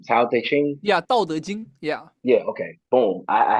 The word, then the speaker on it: 道德经: Yeah, 《道德经》.